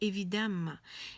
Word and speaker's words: évidemment: viii e évidemment évidemment c'est écrit comme ça mondy pas évident mais on dit évidemment évidemment on comprend que